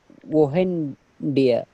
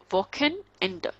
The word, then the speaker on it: Wochenende: And if CH is coming after O, that would be k, sureness, woken, just break this word, woken end. Okay, because E is at the end, so we will pronounce as a.